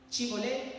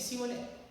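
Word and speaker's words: Shibolet: Los de Galaad y Jefté los identifican porque no saben pronunciar una palabra. Chivolé y cibolé, no cibulé.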